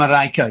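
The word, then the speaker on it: Marijke: So you were with Simon and, how do you pronounce their names? Simon and Marieke? Simon and Marieke, yeah.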